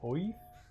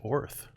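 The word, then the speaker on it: Oerth: Or Oith? Oith? Orth? Oith? There's a pronunciation guide that's really throwing me, guys. Orth. From Orth. It's just Gaelic earth.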